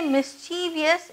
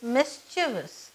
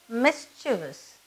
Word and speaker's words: mischievous: Don't ever say mischievous, it is mischievous. Okay, it's pronounced as mischievous.